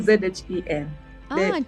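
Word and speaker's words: Meng Zhen Zhen: I think that's the Meng right Zhen pronunciation of my. If it's ZHEN, it's Zhen. So it's MENG, ZHEN, right? And ZHEN. Zhen Zhen.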